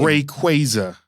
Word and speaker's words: Rayquaza: What is actually I don't even know how to pronounce the name. Rayquaza. Rayquaza.